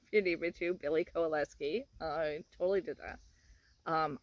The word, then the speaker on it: Kowalewski: see that I've done that um I can spell it all for you if you need me to Billy coleski I totally did that um I ended up